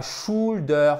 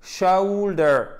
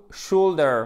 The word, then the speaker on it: shoulder: Alors, accentuation sur la première syllabe. Et c'est pas shoulder. C'est pas chou ou. C'est une diphtongue. C'est un E qui tire vers le ou. Shoulder. Shoulder.